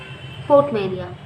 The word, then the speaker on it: portmanteau: Portmania. Okay. T silent. T is silent.